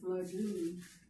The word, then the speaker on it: flagon: of flesh, and a flagon of wine. Well, there you go. So even though, for reasons unknown to me, It's spelled different than I thought. Flagon, flagon, like a flag.